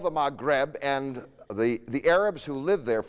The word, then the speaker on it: Maghreb: way you say west in arabic is the maghreb we spell it in roman letters m a g h